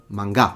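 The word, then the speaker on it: 漫画: He's telling you, oh, the stress is at the beginning. It's manga, not manga. Because, yeah, I think people in France tend to stress it at the end. It's manga because it's heiban pattern.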